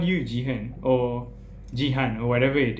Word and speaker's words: Jihan: not my name because it's pronounced Jehan Jehan does not make